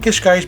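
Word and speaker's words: Cascais: all of that uh kishk was much cooler by the way I'm saying kishk because that is the correct pronunciation how locals say it I remember asking so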